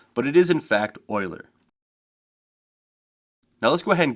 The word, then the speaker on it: Euler: angles euler can look like it should be pronounced euler but it is in fact euler now let's go ahead and give this object